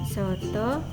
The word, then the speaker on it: soto: Vokal O cecek ini diucapkan seperti vokal O yang pada bahasa Indonesia.